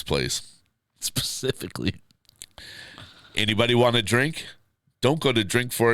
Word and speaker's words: DRYNK: This place is called Drink, and they all spell it DRYNK.